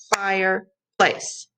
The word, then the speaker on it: fireplace: So let's count the syllables. Fireplace. Fireplace. How many times did I clap? Two. Fireplace. Okay, 2 syllables. So fireplace would rhyme with Meyer place, dire place, liar place, my place.